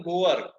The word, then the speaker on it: goer: वैसे तो एक बात ये सबसे पहले कि इसको प्रोनाउंस ठीक से करना। कुछ लोगों के दिमाग में कुछ और चल रहा होगा, तो उसको मत बोलना जो दिमाग में भरा है। इसको हम बोलते हैं गोअर।